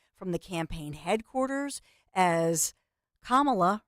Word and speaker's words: Kamala: The Campaign Headquarters as Kamala rhymes with mamala and that's what the